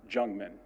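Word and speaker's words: Jungmann: jungman and that is the correct pronunciation after the Chiefs read statements they will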